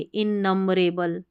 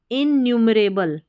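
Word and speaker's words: innumerable: न्यू, NUM को नम नहीं पढ़ेंगे, इन नंबरेबल, ऐसे इन नंबरेबल नहीं, इनन्यूमरेबल, इनन्यूमरेबल।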